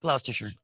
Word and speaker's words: Gloucestershire: gathered in gloucestershire England did I pronounce it right gloucestershire gloucestershire yeah that's better to fling themselves down